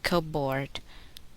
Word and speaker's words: cupboard: The letter P is silent, not pronounced. In the following words, listen and repeat each word after the speaker. Receipt, psychology, pneumonia, corpse, raspberry, cupboard, sapphire.